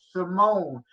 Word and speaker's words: S1M0NE: I'm drawing a blank on his name, but Simone is spelled S1M0NE, 1 and 0 as in digital. Simone, about a purely digital actress.